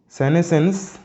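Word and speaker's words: senescence: শব্দ, এটা কিন্তু খুব ভালোভাবে মনে রাখবে, হ্যাঁ, সেনেসেন্স, যেটা উচ্চারণটা এটা খুব ভালোভাবে করবে, ওকে, সেনেসেন্স মানে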